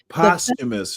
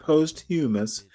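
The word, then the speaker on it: posthumous: But my point is postumous, not posthumis. We don't pronounce those words separately. It's posumous.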